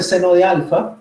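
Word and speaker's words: sen α: El seno del alfa, se dice seno de alfa, se escribe, se escribe sen alfa, preferiblemente con el paréntesis,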